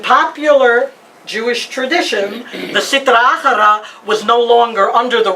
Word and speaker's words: Achara: And Achara, let's spell that in Spanish, A-J-R-A, because we know in Spanish, J is a Ch.